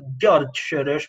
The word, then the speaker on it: Soros: It's George Soros because it's he was born in Hungary.